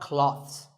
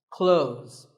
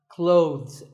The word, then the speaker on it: clothes: well first of all this word is not cloths when we say clothes the th in the middle can often be silent close but it's not wrong if you say these letters with a the sound clothes that's also correct in some words people